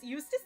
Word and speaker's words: Eustace: Eustace literally rhymes with useless.